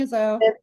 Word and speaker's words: Izzo: Morris and I'm here with um with ISO right did I say that right you said it right ISO so what can you tell us like